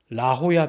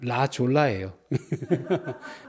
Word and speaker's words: 라호야: 샌디에고를 가다 보면 그 비치 이름이 라호야 비치라고 하는 데가 있어요. 근데 그거를 라호야 비치인데 영어로 표현하면 라졸라예요. J를 H로 읽잖아요.